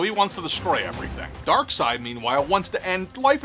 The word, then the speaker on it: Darkseid: now you notice I'm saying Dark Side even though it says dark seed Jack Kirby himself says it's dark side folks so I'm saying it right dark side is a